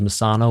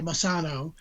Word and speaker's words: Messano: Thought it was Messano with a long A, but you've been saying it Messano. You can do it either way.